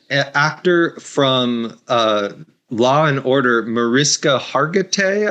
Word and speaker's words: Mariska Hargitay: from Law and Order, Mariska Hargitay, I think it's pronounced, but she has a